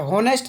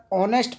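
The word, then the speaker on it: honest: एच है, silent है, होनेस्ट नहीं पढ़ेंगे, इसे हम एच, यहाँ पे एच साइलेंट रहेगा, इसे हम होनेस्ट ना पढ़कर ऑनेस्ट पढ़ेंगे।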